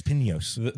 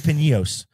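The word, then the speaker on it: Pinillos: That's Pineos, how they say it. I'm pretty Sergio sure it's Panilios. It's Panilios. The double L makes a yes sound. Yeah, the Peruvian prince. But it is Panilios.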